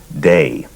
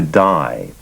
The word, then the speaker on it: Dai: and people around him pronounced his first name day and when he moved to California the pronunciation shifted to die and there were sometimes uh moments of almost friction on on the issue of pronunciation so not surprisingly many people would ask him what's the correct pronunciation day or die and he would smile and say either or either okay you say you're